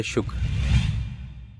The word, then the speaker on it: شکر: درست تلفظ ہے شکر.